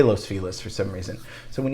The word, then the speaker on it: Los Feliz: you pronounce this um los feliz people say that but locals and angelinos don't say that we say los feliz for some reason so